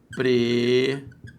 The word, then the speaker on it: empresário: Ou ainda, empresário. É o pulo do gato agora. Então, repare, se agora eu fiz esta divisão, acompanhe, a sílaba tônica deixou de ser a penúltima e passou a ser a antepenúltima.